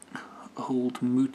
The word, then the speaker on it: Old Mout: in nelson new zealand oh apparently i'm pronouncing it wrong as well pronouncing incorrectly since 1947 that's how you pronounce it hold mute cider who cares anyway